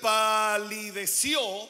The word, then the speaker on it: palideció: El rey palideció con acento en la O y sus pensamientos lo turbaron.